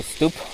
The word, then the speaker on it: stoep: Pronounced more like stoop, but with shorter U sound also, stoop.